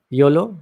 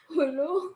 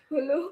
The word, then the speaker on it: Jolo: Yolo? How do you say that? Hulu. Holo? Hulu.